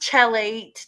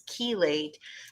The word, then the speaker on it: chelate: word kilos which means caged so it's not pronounced chelate that's incorrect it's chelate and what it means is it's it's a